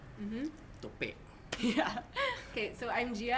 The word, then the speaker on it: Tope: stay faithful with the pronunciation. Mm-hmm. Tope.